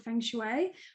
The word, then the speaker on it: feng shui: So the other thing is you're a feng shui, I hope I'm pronouncing it right. Feng shui, is that how you pronounce it? Yes, that's correct.